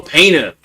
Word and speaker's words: Pano: Oh, Pano. Okay, it's like pain, then O.